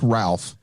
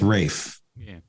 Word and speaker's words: Ralph: you it looks like Ralph but everybody says it like Rafe or something it's Rafe but it's spelled like Ralph yeah well my name